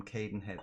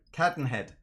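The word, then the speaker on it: Cadenhead: ex-bourbon highland park from cayden head sorry cotton head now that i've learned to say it properly since the last scottish visit now 52 51 38.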